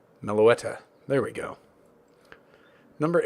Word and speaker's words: Meloetta: Milata. No, I did not say that right. Meloetta.